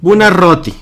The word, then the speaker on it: Buonarroti: doble R, entonces sí tiene que sonar Buonarroti.